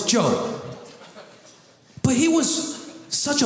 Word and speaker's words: Job: Y'all don't even say his name right. Job. No, it's Job.